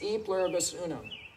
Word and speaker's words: E pluribus unum: and the word unum am i pronouncing that right um i think it's e pluribus unum and that's been on